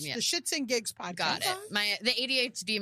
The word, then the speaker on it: SxtsnGigs: It's spelled SxtsnGigs, but it's Shits and Gigs.